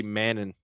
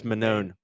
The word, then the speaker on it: Manon: it manone fi yeah I keep want to say mannon it's manone I thought it was